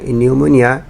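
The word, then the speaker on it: pneumonia: একইভাবে সাইকোলজি এবং নিউমোনিয়া এই দুইটা শব্দেরও পি লেটারটা সাইলেন্ট, এগুলোকে বলে সাইলেন্ট লেটার্স ইন ইংলিশ।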